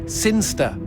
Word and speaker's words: Sinchester: It's pronounced Sinster.